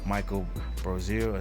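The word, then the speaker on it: Michael Brosseau: All right, like Michael Brosier, that's how you pronounce it.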